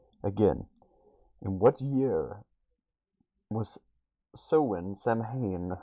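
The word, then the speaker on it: Samhain: in what year was soen Sam hay however however you want to pronounce it say pronounced soen what year was it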